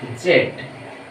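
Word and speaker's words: Z: ঠিক আছে বন্ধুরা, এটার উচ্চারণ এক্স ওয়াই জেড, জেড বা জি। এটা নিয়ে ব্রিটিশরা উচ্চারণ করে জেড, আর আমেরিকানরা উচ্চারণ করে এটাকে জি। তাহলে সুপ্রিয় শিক্ষার্থী বন্ধুরা, এখানে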